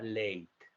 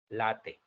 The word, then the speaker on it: Lathe: Vamos a utilizar un modificador que se llama Late. Late. Se escribe Late. L-A-T-H-E. Late.